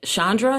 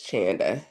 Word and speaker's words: Chanda: Is it Chandra? Is that what it is? I'm sorry if I mispronounced your name. It's Chanda.